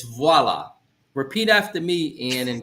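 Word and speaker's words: voilà: we at voila W waa yes and so waa it's close bro but in French it's VOA repeat after me and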